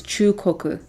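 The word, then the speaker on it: 中国: Oh yeah, the way the Japanese pronounce China is Chukoku, which is middle country.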